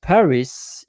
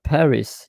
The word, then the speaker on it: Paris: Uh, and I I hear pronouncing and know I know uh like you pronounce Paris in English but in fact it's par. It's not Paris.